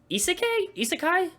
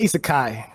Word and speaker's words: isekai: and that's and don't hate me if I pronounce this wrong. Isekai anime. I say isekai.